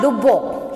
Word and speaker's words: Lubbock: So this spelling, how you pronouncing? Neolithic. Okay. And next one is there here. L-U-B-B-O-C-K. Lubbock. So actually he is John Lubbock.